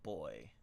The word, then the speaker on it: BXY: The BXY pride flag, pronounced like boy.